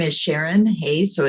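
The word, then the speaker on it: Sharonne: so my name is sharon hey so it's pronounced normal but spelled s-h-a-r-o-n-n-e i am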